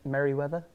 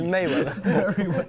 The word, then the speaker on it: Mayweather: Was it Merriweather? It was Mayweather. Is it Mayweather, not Merriweather?